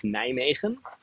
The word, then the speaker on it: Nijmegen: in the eastern part in the city of Nijmegen. That's how we pronounce it.